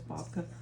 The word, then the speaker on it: babka: baba shape a bobka I'm actually saying it wrong it's bobka so here we go you